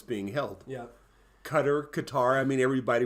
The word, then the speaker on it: Qatar: it's being held yeah Qatar Qatar I mean everybody pronounces it differently yeah I've always heard him it's the correct pronunciation is cutter but however you pronounce